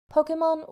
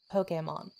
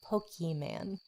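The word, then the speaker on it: Pokémon: that sounds like poketo the japanese pronunciation gives the slight differentiation between the o and the e stress which is why many fans cringe at the pronunciation of pokey man capsule monsters was initially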